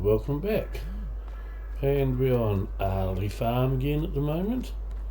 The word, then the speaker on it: Aghalee: looks like Aghalee, but it's an Irish word, so it's not pronounced Aghalee, it's pronounced Aghalee, but you kind of get into the back of the throat more than I can, sort of thing, when you're saying it.